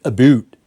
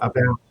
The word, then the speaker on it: about: of Canadians because of the way apparently we pronounce the word about abot yeah that's what they say Canadians they believe Canadians pronounce it aboot abot abot how would you how would you say the word about about what are you talking about about about yeah ow ow sound right out yeah about maybe again